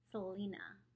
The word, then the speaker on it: Selina: is her relationship with Aaron all about so Selena that's she's just a little girl um that's how to pronounce her name and I guess I'll see